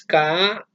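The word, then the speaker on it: כהן: En hebreo, sacerdote es Kohen, es K-O-H-E-N y se pronuncia Kohen, no Kohen, Kohen.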